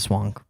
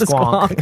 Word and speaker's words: squonk: But in the depths of the swank. The squonk. It's pronounced squonk.